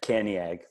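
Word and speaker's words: Cantiague: Caniag.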